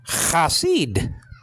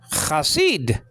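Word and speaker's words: חסיד: Okay, Chasid. Chasid. The lexical form is spelled out chet with the kamet, so there's cha.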